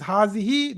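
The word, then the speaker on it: هٰذِهِ: Hadihi. Again, it is pronounced as hazihi, though there is no alif after ha.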